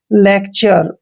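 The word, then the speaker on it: lecture: को च पढ़ा है नेक्स्ट वर्ड देखिए एल ई सी टी यू आर ई यहां पर भी टी के बाद यू आर ई आया है इसलिए हम टी का उच्चारण च करेंगे मींस लेक्चर क्या पढ़ेंगे इसको लेक्चर क्लियर तो यहां पर देखिए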